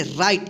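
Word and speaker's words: right: जैसे यहां पे देखिए आर आई जी एच टी। देखिए राइट। इसको क्या पढ़ते हैं? राइट। देखिए यहां पे जी एच क्या हो गया? साइलेंट हो गया।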